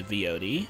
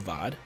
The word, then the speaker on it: VOD: come later and watch the vyod or vod whatever you want to pronounce it and everyone have a